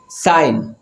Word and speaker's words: sign: sign جی.